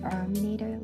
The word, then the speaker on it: Arminator: wrestling name would be the arminator like rhymes with dominators it doesn't make a